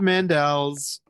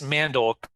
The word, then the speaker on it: Mandel: world has been brainwashed by somebody else who spells his name the same way but pronounces it incorrectly, who's been famous for 100 years.